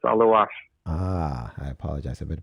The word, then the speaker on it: Aluas: Aluas. A-L-U. Am I pronouncing that right? I've been pronouncing your name, but Aluas, is that correct, or is it Aluas? No, it's Aluas.